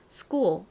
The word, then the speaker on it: school: 앞서 설명드렸던 것처럼 이 키읔 발음이 나는 알파벳이 S의 뒤에 오게 되면 거의 쌍기역에 가까운 센 소리가 납니다. 그래서 school이 아니라 실제 영어식 발음은 school, school 이렇게 쌍기역 소리가 나요.